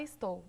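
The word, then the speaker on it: Stowe: O nome é Estou, se fala Estou, mas se escreve S-T-O-W-E, porque é uma palavra que se cria dentro do livro mesmo.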